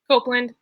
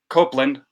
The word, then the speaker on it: Copeland: copeland how do you say your last name copeland copeland hopeland copeland and adrian is joining us all